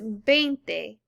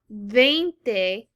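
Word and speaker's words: veinte: number 20 it is bente now remember the v is not a hard v like it is in english it is more of a b sound again it is not vente it is bente so now let's look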